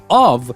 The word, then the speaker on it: of: beginning of the episode of means o f if it is o f f it is off so here when you only have one f you pronounce it like a v of alright so let's